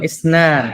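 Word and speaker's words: اثنان: বলেন ওয়াহেদ ইসন বলেন ইসনান এই যে টি শব্দটা যেখানে দেখবেন এই টি কে এরাবিক আরবিরা ওরা সা বলে সা তো বানানটা এই যে টি দেখলে আপনি উচ্চারণ করবেন কি সা মানে টিএ যে শুরুতে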